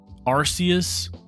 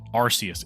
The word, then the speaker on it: Arceus: is uh 10 times better in every way Arceus yep that's what I'm pronounced that's how I pronounce it Arceus it's a c I don't care if the